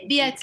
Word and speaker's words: Biet: Biet? How do you say? Biet, like Juliet with a B.